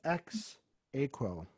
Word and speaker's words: Ex Aequo: this is you told I wrote this phonetically this is X equal you got it yeah it's like Latin